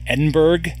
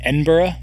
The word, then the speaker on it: Edinburgh: to Edinburgh uh which I always called it Edinburgh I had no idea that you actually pronounce it Edinburgh um we went to Edinburgh we went to